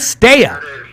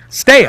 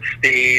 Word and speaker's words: Stea: Like stay away. Frank Stea. Stea, right?